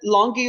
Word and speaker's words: longior: Is that longior or longior? Longior, sorry. Okay. Is that right? Hold on. I'm easily confused, so I'm just making sure. You're right. Longior. soft G.